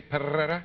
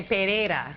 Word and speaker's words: Pereira: It's really hard to say my name if you can't roll your R's. Perrera. Would you, if you were going to really say it like right, would you say Perrera? No, you'd say Pereira. Pereira.